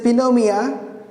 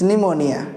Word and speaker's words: pneumonia: they will not understand it's called psychology p is silent if you say Pino Mia there is no any disease called Pino Mia it's pneumonia right always remember this is not connect this